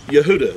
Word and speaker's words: Yehuda: I have it is the is the name Yehuda this is the tribe of Yehuda and it's spelled exactly the same way that you would